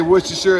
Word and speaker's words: Worcestershire: I want to add some Worcestershire sauce, and yes, I say Worcestershire as in rhyming with New Hampshire. Some people say Shire as in rhyming with tire.